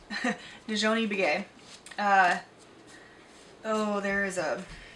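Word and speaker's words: Nizhoni: Najoni Begay. There is a pronunciation guide in here. Najoni? That sounds right. Yeah, Nijone. Nijoni.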